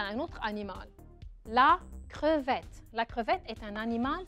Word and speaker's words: crevette: C-R-E, cre, V-E, double T. مجرد ما تشوفوا double T, قولوا انو راح قول E.